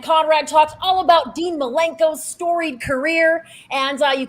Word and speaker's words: Malenko: Bischoff with a CA it's a dancer malenko not Milenko like a link in the fence all one would have